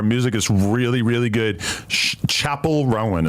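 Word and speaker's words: Chappell Roan: is really really good Chapel Rowan is how they say it you heard it she's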